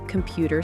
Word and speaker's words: computer: He's studying computer science. Computer. That's come pewer. Stress on the second syllable.